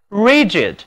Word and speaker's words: rigid: 我们把形容词后缀 I-D 加到词根 R-I-G 后面，读作 rigid, rigid, 这里字母 G 发音是 G。